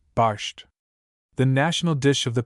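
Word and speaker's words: barszcz: Pronunciation approximately, barsht.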